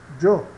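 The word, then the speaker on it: yo: Então veja essa palavra, io, né, que significa eu, a gente pronuncia j, jo. Observe que esse D do j é quase mudo, tá? Então, jo, eu, certo?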